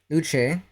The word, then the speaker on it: Luce: Like her, her name is pronounced Luche. It's Italian and French.